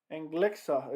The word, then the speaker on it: Anglickas: anderson has more power than anthony rumble johnson and glixa is how you pronounce it julia sangliska i'm going to call him anglicus i don't care i'm happy anderson won because